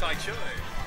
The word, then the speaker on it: Taicho: I don't want to say his name because Ty Cho. Yeah, Ty Cho, yeah, you got it.